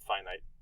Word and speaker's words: finite: And then there's the opposite of infinite, which is you just take off the in, it becomes finite, but you pronounce it finite.